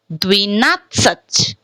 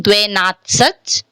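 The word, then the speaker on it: двенадцать: Dvinatsach, dvinatsach. Instead of pronouncing dvenatsach, dvenatsach. Instead of pronouncing dvenatsach, we are pronouncing dvinatsach. So first of all, why this word is pronouncing as dvi? Because ye is unstressed.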